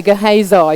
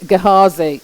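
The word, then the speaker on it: Gehazi: interesting and you know I didn't know how to say his name until I realized that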